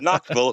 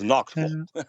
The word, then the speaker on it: Knoxville: It's not Knoxville. It's Knoxville. Knock Knoxville. Yeah. You kind of swallow half of Knoxville.